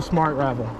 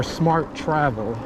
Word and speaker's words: Smart Travel: So, looks like you're going to have to pick up a Smart Ravel or Smart Travel as it should be pronounced and called.